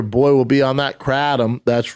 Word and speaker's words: kratom: And why did you pronounce it kratom when it's pronounced kratom?